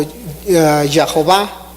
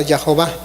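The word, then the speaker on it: Jehová: que también se conoce se pronuncia también a veces como y joba porque le están agregando las letras las de las vocales de adonay en youtube y crear la palabra ya jova pero en realidad no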